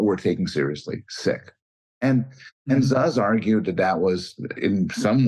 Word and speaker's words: Szasz: I always pronounce it Szasz.